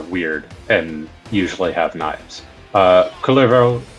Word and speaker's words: Kullervo: Kullervo, I believe the actual Finnish pronunciation is Kullervo.